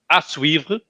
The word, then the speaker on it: à suivre: Okay, it's à suivre. À suivre.